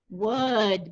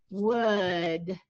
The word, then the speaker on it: would: finger and then here's the letter that almost always gets forgotten wood because you can't hear it this is a silent letter wood and then there's my